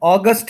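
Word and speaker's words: August: उसके बाद अगस्त है, ये इसका प्रोनाउंसिएशन जो है ये थोड़ा ठीक कर लेते हैं।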